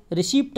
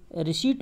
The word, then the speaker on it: receipt: Actual में रिसीप्ट नहीं होती है, स्पेलिंग ज़रूर ऐसी है, पी आता है बीच में, लेकिन इसको रिसीप्ट नहीं बोलते बल्कि रिसीट बोलते हैं।